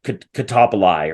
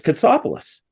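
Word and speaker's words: Kotsopoulos: it they started and Dawn couldn't pronounce Hartford defenseman Chris Katsopolis his name he called him catapultai or something like that and Dave said it's Katsopolis and Don said well then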